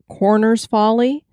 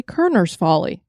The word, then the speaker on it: Korner's Folly: people a location that looks like it's pronounced corners folly but it's actually kerner's folly and this is a